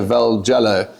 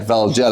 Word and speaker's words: Valjalo: And we've got young Vello. Um and yeah, that's how you say it. Vello. Everybody wants to try and be fancy. Uh but that's not the case.